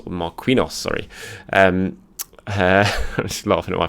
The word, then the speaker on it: Marquinhos: and ketiah jay zeus pepe saka balagun and marcrinos marquinhos sorry um laughing at my pronunciation there um so yeah very strong squad